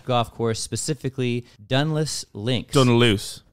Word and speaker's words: Dunluce: Dunluce. How do you say it? So Dunluce.